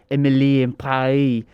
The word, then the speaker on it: Emily in Paris: other day is that you're supposed to say in a in a french accent because it's emily and pae so it rhymes i'm not joking this